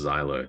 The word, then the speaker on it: Xylo: rockpool I I'm assuming it's pronounced Xylo like xylophone right I guess we'll